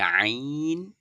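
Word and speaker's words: ع: তো কন্ঠনালীর মধ্যখান হইতে। তাহলে আমি বলে দিয়েছিলাম সেদিনে যে আইন আর কি? হা। আইন হা এগুলো হচ্ছে।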